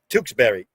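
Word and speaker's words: Tewksbury: tusab Berry pretty close it's tkes tkes Berry so it be like if it was t o o k s b r r y Tukes Berry I mean this all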